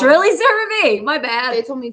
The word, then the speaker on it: CeraVe: It's really CeraVe.